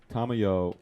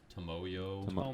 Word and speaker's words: Tomoyo: And so Tamayo, is that how you pronounce it? Tomoyo. Yeah, Tomoyo.